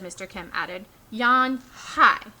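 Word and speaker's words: Unhei: turned to joey she nodded slowly yes it's pronounced yon hi and it means grace said mr kim added yan hi said joey and he slowly turned and this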